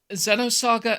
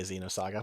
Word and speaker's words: Xenosaga: Xenosaga Episode 1, Der Wille zur Macht. Most people say Xenosaga, but otherwise you did great.